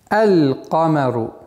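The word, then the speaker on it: القمر: Например, «камарун», а с артиклем «эль-камару», «эль-камару». Камеру, то есть лям, над буквой лям сукун произносится.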